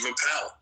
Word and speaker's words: Appel: I did intend with a ish ending to give a little nod to the ish movement started by Steve Appel you know which rhymes with Steve Carell and you know both